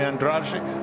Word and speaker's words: Andrade: We just heard from Rui Andrade, as he's pronounced it with a sort of Portuguese end to the name, up from Angola.